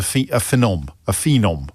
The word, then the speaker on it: phenom: And Luke Littler is a phenom. How do you pronounce that word? P-H-E-N-O-M. It's like a miniature version of phenomenon.